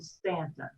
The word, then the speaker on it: Staunton: or aunt ruth well we go with the ant version on stanton this has been an